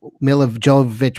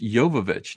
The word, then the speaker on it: Jovovich: I'm never going to stop saying Jovavich though because I can't. It's Well, a in habit. German, the J is like a Y.